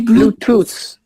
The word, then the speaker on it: Bluetooth: On dit Bluetooth.